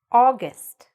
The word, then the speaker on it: August: Next, August. August. The stress is at the beginning.